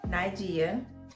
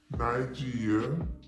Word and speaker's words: Nygia: pronounce your baby name nai g yeah nigeya g yeah nigeya it's pretty self-explanatory i don't know why people butcher it but i mean i get it it's different so yeah that's how you pronounce my name so the next question